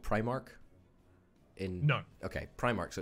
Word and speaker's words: Primark: primary school and therefore you should say Primark right rather than premark Welby say Primrose well